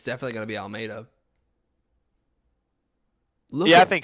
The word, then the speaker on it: Almeida: Well, it's definitely Almeida, so we got that part.